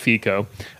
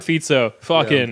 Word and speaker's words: Fico: that's like Robert Robert fito as I've learned it's pronounced it's not FICO um Robert fito Bello